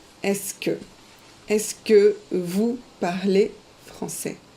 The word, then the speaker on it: est-ce que: And you pronounce it est-ce que.